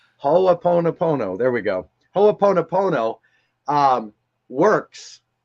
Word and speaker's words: Ho'oponopono: And the reason why, just like, and I can never pronounce it right, Ho'oponopono, did I say it right that time? Ho'oponopono. Ho'oponopono, there we go.